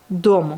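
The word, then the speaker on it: дом: Par exemple, maison, dom. On prononce bien le D. Donc dom.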